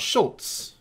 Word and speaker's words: Schultz: And even Americans do pronounce SCH sh in almost all situations. For example, the composer Schubert. I've never heard an American call him Scoobert. Or what about Schultz, the cartoonist?